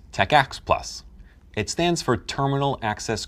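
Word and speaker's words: TACACS+: may come with it t-a-c-a-c-s plus pronounced techx plus it stands for terminal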